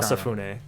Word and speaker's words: Osafune: Osafune. That's how you pronounce it.